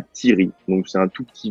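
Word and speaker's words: Tieri: Comment on dit Thierry? Tiri, T-I-E-R-I.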